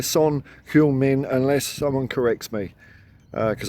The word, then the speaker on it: Son Heung-min: I looked it up the other day, because I keep on saying Heung-min Son, and I think that's the wrong way around. So I'm going to say Son Heung-min unless someone corrects me,